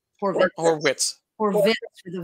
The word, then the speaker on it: Horwitz: I'm pretty sure that he pronounces it Horwitz. It's a V. Horwitz. Horwitz with a V.